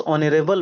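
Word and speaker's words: honorable: तो ऑनरेबल, ऑनरेबल एच से है बट ऑनरेबल ओ से होता है, तो यहाँ पे क्या हो जाएगा आपका एन हो जाएगा, ठीक है।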